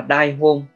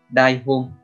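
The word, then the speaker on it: 台本: Cách đọc của nó là đai hôn, đai hôn.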